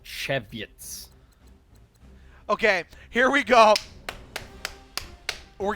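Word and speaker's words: Żywiec: There's a there's a Polish beer that's spelled Z Y W I E C and it's and it's pronounced and it's pronounced cheviet.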